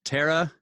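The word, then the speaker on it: Thera: that's what we're talking about right there that's pronounced Terra Terra silent yes okay ah so that's so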